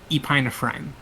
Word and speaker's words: epinephrine: How do you pronounce that? Epinephrine? Ah, that's how you say it. Listen. Epinephrine.